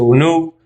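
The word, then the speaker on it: Unug: Acá dice Uruk, que en Sumeria se pronuncia Unuk, fue derrotado.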